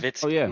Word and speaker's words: Nowitzki: Nowitzki. Nowitzki. Nowitzki. The W is a V.